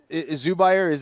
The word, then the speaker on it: Zubair: That is a tough situation because again, Zubair, that's his name. That's how you pronounce.